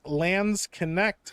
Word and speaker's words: Landsknecht: Landsnecht is pronounced Landsknecht.